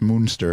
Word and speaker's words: Munster: That's pronounced Moonster.